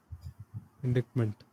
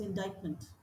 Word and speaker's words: indictment: N E N T indictment. is pronounced as indictment.